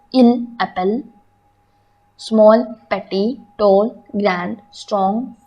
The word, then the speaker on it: grand: Tall or big in French we say as grand, G-R-A-N-D, grand. Friends, in this letter D is silent. That's why we call it grand.